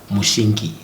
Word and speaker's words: Mushinki: Mushinki. Yes. It's mushi. It's similar to mushi in. So it's uh Mushinki.